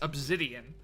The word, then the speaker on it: obsidian: Just like how it's pronounced obsidian, but I say it with a Z rather than an S, obsidian. I've always said it that way.